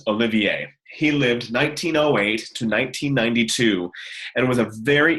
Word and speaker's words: Olivier: French composer Olivier messian his first name looks like it's Oliver but it's pronounced Olivier he lived 1908 to